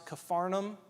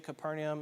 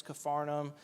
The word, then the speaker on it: Capernaum: After that we went to uh Capernium which they pronounce Caparnum. You transliterate Hebrew to Greek then to English we get Capernaum. It's Caparnum but it's called the town of Jesus.